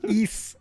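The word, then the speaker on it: Ys: the new the new east game and naturally since i was looking forward to it it came out and now i'm playing it um east east pronounced east looks like yes um really fun game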